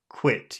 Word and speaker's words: quit: vowel sound I yeah it's like you push down in the back of your throat like you're eating it